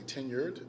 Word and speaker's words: tenure: say that word correctly tenured that's t-e-n-u-r-e with a d it's not 10 years just to be clear because the way we say it like kindergarten we kind of it's a word we always mess up it's tenure and a